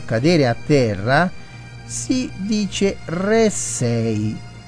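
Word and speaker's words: ῥήσσει: Infatti, nell'originale, la parola che troviamo, cadere a terra, si dice ressei. Anzi, ho sbagliato accento. Ressei. Accento sulla prima E.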